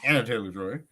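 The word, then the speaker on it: Anya Taylor-Joy: It's Anya, I believe. Any No, she goes it's Anna, but it's spelled Anya. Yeah. Oh, okay. Then uh Anna Taylor Joy and but it was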